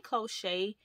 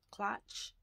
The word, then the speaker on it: cloche: I say cloche, but I heard someone pronounce it clutch. So I don't know.